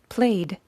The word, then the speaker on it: played: Now these are used for voiced consonants when the ed is pronounced like a D. Our examples are play, which becomes played.